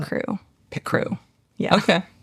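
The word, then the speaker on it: Picrew: Pit Crew is the platform that allows you to make an avatar generator.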